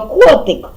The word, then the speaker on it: котик: вдарили котик ударили голосом котик наголос падає на перший склад на звук о о наголошений наступна загадка